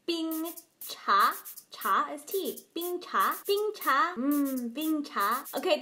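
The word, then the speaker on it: 冰茶: Bing cha. Bing cha. Bing is first tone. Bing means cold. You've already learned bing cafe, which means iced coffee. Bing cha. Cha is tea. Bing cha.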